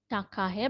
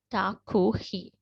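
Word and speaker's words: takahē: this is like uh we do not read it as takahe but we need to read it as taku right so the bird's name is takuhi right a rare bird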